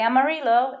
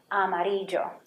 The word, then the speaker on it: amarillo: Did you hear how I pronounce that? Llover. Not llover, llover. How about this one? I bet you know this one. It's a color yellow. Amarillo. Okay? We don't say amarillo, it's amarillo.